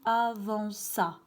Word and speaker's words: avanças: Tu avant K. Pourquoi? Parce que C plus A, ça se prononce K. Qu'est-ce qu'on fait dans ce cas? Donc, on doit rajouter la cédille et comme ça, on va lire tu avanças.